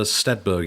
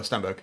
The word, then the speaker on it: Stenberg: central performances particularly ashler steber is is great uh but I think um you've got a name wrong I've got a name Amanda yeah Amanda Stenberg Stenberg yeah okay sorry I'll get